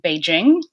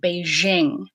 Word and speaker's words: Beijing: we think of Beijing I hear people from Beijing call Beijing Beijing and I hear everyone else call it Beijing so perhaps people just